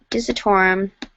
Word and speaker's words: Dissetorem: Again, please tweet me at Dissetorem, DISSETOREM. Also, that is how you say my username.